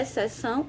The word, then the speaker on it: exceção: o dígrafo sonho é o nh e é exceção é o xt que é o agao exceção a gente não pronunciou o som dos filhos né eles junto